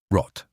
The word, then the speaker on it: rot: And R, not an English r. It comes from the back of the throat, almost like a soft gargle. rot Red, we already made a short video about 10 colors in German.